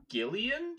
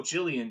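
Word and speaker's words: Gillian: Uh, well, both of them feature Gileian Jacobs, I think is how she pronounces it. Because I always I think so. I thought I saw it. I was like, "Oh, Jillian Jacobs." And then I think I saw an interview with her once and they called her Gileian.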